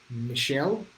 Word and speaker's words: Mitchell: David says David Mitchell. Hope I'm pronouncing that right. The French way, he says Michelle. Okay, I think Michelle. I think I got that.